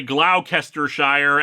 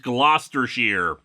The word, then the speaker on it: Gloucestershire: am still haunted by Glau kestershire actually being pronounced gloucestershire the English language is stupid we've got six issues